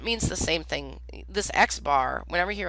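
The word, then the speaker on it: x̄: If I say, x bar, see that x without line above it, that's pronounced x bar, and you'll see I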